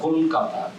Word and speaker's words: কলকাতা: 3 মাত্রা করে উচ্চারণ করতে পারেন, তখন দ্রুত উচ্চারণ করতে হবে। দ্রুত কেননা করলে একটা হসন্ত আছে, এই হসন্তটা কলকাতা, এটা ল আর ক একসঙ্গে যুক্ত হয়ে যেতে হবে, এবং দ্রুত উচ্চারণ করলে যুক্ত হয়ে যায়।